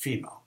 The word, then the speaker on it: FMEA: And oftentimes we'll look at something called a failure mode and effects analysis, which even though it's FMEA, it's pronounced FEMA.